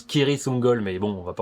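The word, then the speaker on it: Cirith Ungol: Oui, normalement ça se prononce Kiritungol, mais bon, on va pas en faire un foin.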